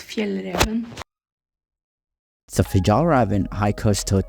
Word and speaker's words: Fjällräven: It's pronounced Fjällräven.